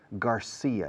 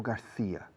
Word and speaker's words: Garcia: Garcia, no García. Si decís García, un angloparlante visualiza una TH en medio, no una C. Porque la C en inglés se pronuncia como la S, al igual que en México o Argentina, en Latinoamérica.